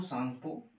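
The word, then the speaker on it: Tsangpo: देखो इसको बोलते हैं Indo सांगपो, Indo सांगपो सचरजो, English में भी लिख लेते हैं इंडो सांगपो, टी साइलेंट रहती है।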